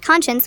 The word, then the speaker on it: conscience: It is pronounced conscience with a sh sound, not conscience.